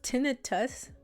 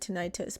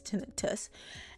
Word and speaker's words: tinnitus: oh okay okay I just learned that it's pronounced tinnitus and that's a much less scary no I can't speak it's a must less scary name it's called tinnitus I pronounce it tinnitus but that's not how you pronounce it is